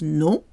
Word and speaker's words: non: So no is pronounced non in French, and so is name, non. You cannot hear the M when OM and ON are in the same syllable. They are both pronounced on, non.